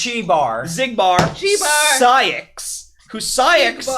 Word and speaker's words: Xigbar: yeah, it's spelled with a Chi, yes. Fucking Christ. So, Xehanort, It's Chi Bar.